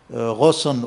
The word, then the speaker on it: Ghosn: Vous voyez, il n'y a pas que Carlos Rosson ou Ghosn, comme on prononce à la française, qui soit de renommée internationale, qui dirige, n'est-ce pas, Renault et Nissan.